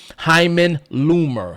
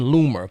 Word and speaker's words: Lumer: Now, in 1973, a Jewish American communist by the name of Hyman Loomer, his last name is spelled Lumer, Hyman Loomer.